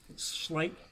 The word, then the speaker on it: Schleich: Schleen, I think is how you say it. Schleen. Spleen was a company that was the majority maker of them. But there was also Bully. It's definitely a sh sound because my maiden last name is sh.